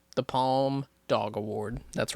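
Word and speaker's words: Palme: pal they also don't call it Palm the way that they spell it P a l m e they just call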